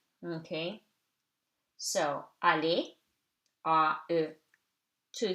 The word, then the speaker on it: aller: Okay, so aller, A-E, two syllables, two vowels, two syllables. After E, R is silent. Aller.